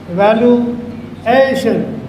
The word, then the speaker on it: evaluation: There is general rule which you can remember, that in case of T-I-O-N, in the addition, the syllable before this is always stressed. This is examination, evaluation.